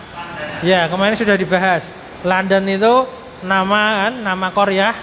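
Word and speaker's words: لندن: jer landana ya landana dan bacanya landan Kenapa pakainya karena orang Arab itu mengikuti dengarnya orang Eropa bilangnya gimana kalau kita kan bacanya London ya Ah London kita ngir itu pakai damah lundun bukan bukan lundun tapi karena mereka tulisannya London itu mereka menakan London London maka dengarnya kan fathah la landan landondan makya fathah landana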